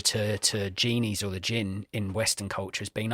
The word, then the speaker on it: djinn: do he captures a gin and even in the subtitle it's spelled similar to this d DJ G DJ I NN and it's a it's